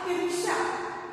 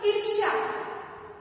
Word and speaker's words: ईर्ष्या: ईर्ष्या, यह शब्द देखिए, ई रो शा, ईर्ष्या, उच्चारण कैसे करना है इसका, ईर्ष्या, ये रो की मात्रा है लेकिन इसका उच्चारण हम ई के बाद करते हैं। रो या रो की मात्रा है लेकिन इसका उच्चारण हम ई के बाद करें, पहले अक्षर के बाद ही करते हैं।